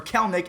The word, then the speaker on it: Kelenic: confirmed that they practice service time manipulation and kellenick or kellnick actually that's how you say his name he